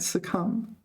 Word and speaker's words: succumb: pressure suum to suum do you pronounce a b you don't right suum silent B okay so this Ying